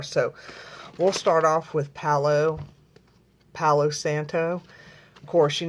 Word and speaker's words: Palo: I like white sage, but lately I've been wanting the Palo Santo, and a lot of people pronounce it Palo, but it's not. It's Palo.